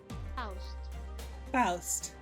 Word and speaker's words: Faust: So, how do I pronounce this name? Please. Faust.